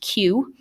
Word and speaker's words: queue: sometimes the fourth one you really could just pronounce using the first letter so many other wonderful vowels after it but it's just pronounced q and a q is